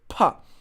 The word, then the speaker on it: 怕: Okay, so pa is how we pronounce it.